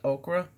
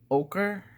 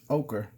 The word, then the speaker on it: ochre: i'm gonna use that burnt okra i know you guys are teaching me how to say this word burnt ochre ochre and i'm gonna use